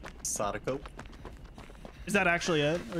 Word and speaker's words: Sadako: How do you pronounce? Sadako.